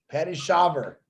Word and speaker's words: Shaver: I think I always say Patricia Scheuer, don't I? Yes. I never noticed that V in there.